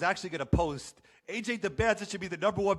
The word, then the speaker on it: Dybantsa: They're focused on the T, but that's not really the issue. I don't know if it's like they just kind of gave up on the fighting back against the pronunciation and they just accepted that it's Dybantsa. I've been saying Dybantsa just because I got it from their mouth to my ears that's what it was.